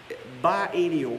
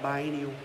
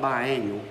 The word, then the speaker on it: biennial: Biennial, am I saying that right? Biennial? Not biannual. It's spelled by E-N-N-I-A. Biennial.